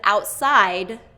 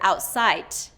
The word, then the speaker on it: outside: So, I hear instead of outside, duh, duh, outside, I'll hear outsite, outsite, outsite.